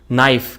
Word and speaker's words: knife: silent silently Like a Knife okay why is K there in in knife I I just cannot